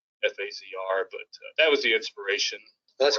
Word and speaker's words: FAZR: with our names and it's spelled f azr so we we uh we took the sound pronunciation of phaser and shortened it to that fasr but was the inspiration